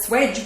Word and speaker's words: Swedge: that love people that we call the Swedge which rhymes with wedge and we eat wedges